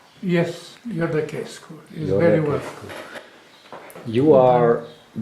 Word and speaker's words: Iordachescu: Do I pronounce it correct? Yes, Iordachescu is very well.